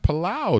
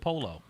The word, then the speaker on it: Polow: All right, so if I look at that Polow, that looks like Palau to me. See, I would have said Polo. Polo. Right. Polo. P-O-L-O. Polo. Right. You're right. Polo. Right. But he's pronouncing like white folks.